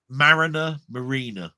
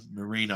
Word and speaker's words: Mariner: If somebody didn't read it out and tell you that's how you pronounce it, in your head, you'd probably call it Marina, as in a marine, where, a marina, which is by the water and all that sort of stuff. Mariner is the proper word for it.